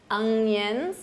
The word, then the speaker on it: onion: These are onions. Notice that pronunciation, onion, onion, onions.